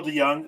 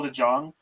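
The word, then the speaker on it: DeJong: jenny and he pronounced his name paul de jong does she want the young in oakland because i would do that in a heartbeat oh no um she just pronounced his name very wrong that is my big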